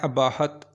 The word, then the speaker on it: اباحت: नाम है अबाहत। अबाहत नाम के इंग्लिश में स्पेलिंग है ABAHAT।